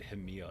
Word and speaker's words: Hamill: You always pronounce it Hamill. It's Hamill, right? It's Hamill. Okay, this is Dorothy Hamill. Yeah. Hamill. Yeah. All Hamill. right. Like Hamilton, just Hamill.